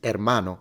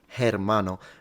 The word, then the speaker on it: hermano: In Spanish, you shouldn't surprise because in Spanish, the H is never pronounced. It's hermano. It's not hermano.